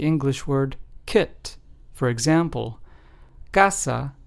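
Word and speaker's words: casa: word kit for example Kasa which means House in Spanish is pron anounced ASA clo which means clear in Spanish is pronounced as clo and Kina which means kitchen in Spanish is pronounced as coina so as we can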